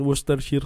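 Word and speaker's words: Worcestershire: tayo ng sauce niya Nono so ketchup and wooster sheer sauce So yun daw yyung pronunciation niyan sabi nung teacher ko n sa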